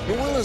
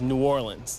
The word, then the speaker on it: New Orleans: way jazz faithful blues rock and roll yeah new orleans has always been there to say you know